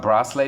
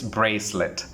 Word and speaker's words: bracelet: No, it's not bracelet, it's bracelet. The correct pronunciation for this one is bracelet. Bracelet is the right pronunciation.